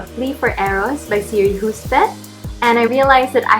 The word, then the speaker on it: Hustvedt: And I thought that it was Hustvedt, but turns out it was Hustvedt.